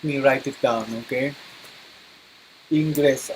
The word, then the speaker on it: Ingres: Okay, Ingres. Some artists they pronounce is eng.